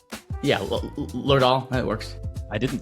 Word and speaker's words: Lerdahl: Yeah, Lerdahl, that works.